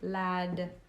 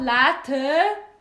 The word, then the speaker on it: lad: Lad with a D, not a T. Lad. No, not latte.